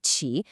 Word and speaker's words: 起: That Q sound is tricky for English speakers. Here's how you do it.